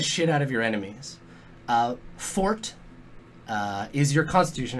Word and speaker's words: Forte: Fort is pronounced fort. It's not forte, it's fort.